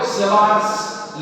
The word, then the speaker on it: Savart: One of the law is this biot law, but it is not pronounced as biot. Actually, the T over here and the T over here, this is silent. So we basically pronounce it as savarts law.